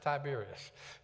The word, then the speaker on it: Tiberias: It ends in AS, but all of them are pronounced Tiberias.